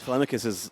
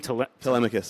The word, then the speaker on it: Telemachus: I mean it, And that was it is Telemachus' sign to know that was his dude.